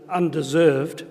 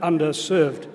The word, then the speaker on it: underserved: it's got to be careful about how you pronounce and say that word not under undeserved but underserved communities so that's what we